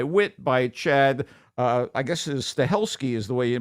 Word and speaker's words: Stahelski: I guess Stahelski is the way you pronounce the guy's name.